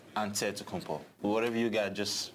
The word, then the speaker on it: Antetokounmpo: in a real way you gotta say with the d so it's added to but in the greek way you say with the nt like antetokounmpo whatever you got just